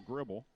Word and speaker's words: Griebel: Kicks it over to Danielle Gribble. Not spelled like Dale Gribble in the, the King of the Hill television show, cartoon. This is Griebel and pronounced Gribble.